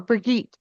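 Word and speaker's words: Birgit: I believe it's B I R Git T. Burgett, I think is how it's pronounced. Uh, I keep saying Bridget, but that's not how it's spelled. It is. It is Bridget or Brigite. Which one? Mara or Russell? Mau. Is it Brigite? Brigit. Okay. All right. I was completely mispronouncing that.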